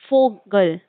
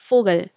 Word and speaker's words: Vogel: And V, Vogel, will be Vogel, Vogel. So V will be F, like we see in the alphabet, how we will pronunciate.